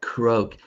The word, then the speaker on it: croak: Right, croak. And this is kind of strange because the A is silent.